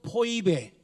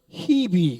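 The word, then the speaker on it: Phoebe: 신약성경 발음은 포이베. 우리 한국 사람들은 베베, 미국 사람들은 히비 그래요. 히비.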